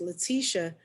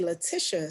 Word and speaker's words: Leticia: another way like so my name is pronounced leticia but a lot of people say latisha so another thing that